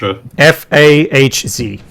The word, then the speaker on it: Fahz: It's we spelled with a H. Fahz.